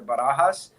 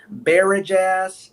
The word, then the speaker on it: Barajas: um and then my last name has been butchered the barajas i i went to school in a very rural part of virginia for for college and they butchered my name in every class you know doing roll call and they said is there a a barrage ass alexander and i'm like